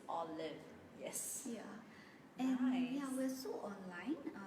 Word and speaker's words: Olive: Olive and so now people start pronouncing it properly okay it's all live yes yeah we're so